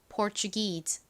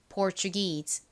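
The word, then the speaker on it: Portuguese: 자 한번 발음 살펴볼게요 먼저 앞부분은 똑같이 포입니다 포 포 그리고이 부분도 똑같아요 추 소리가 나죠 4추 다음는 기억 소리 나고 끝부분은 무슨 소리가 나죠 e 소리가납니다 e 연결하면 포가 되죠 자 발음 해 볼게요 PES 한 번 더 해 볼게요이 e 부분에 강세를 주세요 PES 자 이제 오늘의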